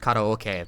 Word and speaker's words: karaoke: Because, like, I know that it's pronounced karaoke, but, like, you sound like a twat if you do that.